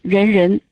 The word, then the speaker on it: Renren: The other one is Renren, which sounds like people, person. Renren, that makes people, person. Anyway, the pronunciation is Renren.